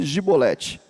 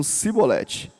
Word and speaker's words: Chibolete: não então ele diziam disse gibolete Mas eles diziam simbolete porque não podiam pronunciar bem então pegavam ele